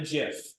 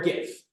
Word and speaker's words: GIF: You can just have the GIF or GIF. But that's not how you pronounce it, in my opinion. Even though it starts with a G, right? It's like the peanut butter.